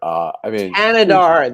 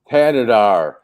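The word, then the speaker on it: Thanedar: Thanadar. The H is silent. Thanadar. Thanadar.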